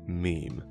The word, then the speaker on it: meme: a suitable Greek root but I want a monosyllable that sounds a bit like Gene I hope my classicist friends will forgive me if I abbreviate mimim to mem thus we see that